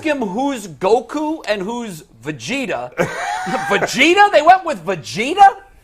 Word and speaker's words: Vegeta: a ghost that was good did you say V vetta is that how you pronounce it's called Vegeta oh damn it it is listen I literally